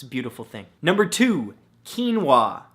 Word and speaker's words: quinoa: beautiful thing number two quinoa spelled ke en wuah no that's not how it's spelt at all but it should right come on English now the great thing